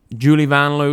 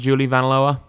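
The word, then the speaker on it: Julie Vanloo: Apparently, Julie Van Loo is pronounced Julie Van Loa.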